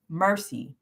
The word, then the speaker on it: MRCI: from mercy charities incorporated who are we mrci pronounced mercy we are here for those who need it